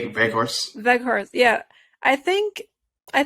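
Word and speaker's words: Weghorst: Yeah, Veghorst. Veghorst.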